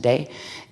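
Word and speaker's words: 德: one is called the de which is the te it's spelled t e but it's pronounced de and the other is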